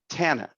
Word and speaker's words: Tana: So Tana, did I pronounce that correctly?